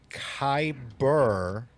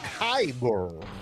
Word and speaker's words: kyber: Lounge on the Disney wish has a $5,000 kyber it's not even spelled right crystal drink is